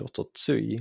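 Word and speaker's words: おととい: The important thing to note next is that the final to is actually a sound shift from the older tsu, and you can still find ototsui listed in dictionaries as an alternative reading.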